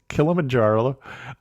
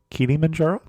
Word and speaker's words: Kilimanjaro: talk to us about, and we're going to pronounce this in a couple different ways, Kilimanjaro or Kilimanjaro.